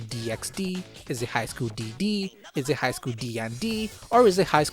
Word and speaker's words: DxD: nature of the anime it makes sense to call it High School Double D but many just call it High School DxD I personally go with high school DD as it has just less syllables and another thing I